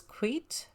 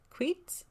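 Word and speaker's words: Queets: So we hop in the car thinking, oh, we'll just go to this town here, which, if I'm saying it right, is Queet, Queet.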